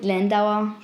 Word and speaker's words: Landr: I call it Landauer, but it is spelled Landr.